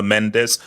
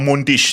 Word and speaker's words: Mendes: And also, guys, Bro, it's Mendes. I don't know where you're freaking on about, bro. I I You say, you know, No, it's Mendes. That's how you say in Portuguese. It's not mench or munch or mundish.